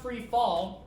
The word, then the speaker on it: Freefol: It's pronounced free fall.